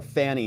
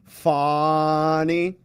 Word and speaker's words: Fani: first name you know we call her Fanny here I think the accurate pronunciation from her is fny and so he had